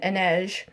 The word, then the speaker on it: Inej: So, all of that happened before I found out that other people pronounce it Inej. So, that's why I say Anae.